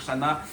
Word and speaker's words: Channa: Si maintenant vous voulez absolument dire Shana, et bien il y a une petite entourele. Ça peut être possible. Si cette partie dans euh la prononciation générale, on peut en parler comme d'un nom commun, mais alors interdiction, mettre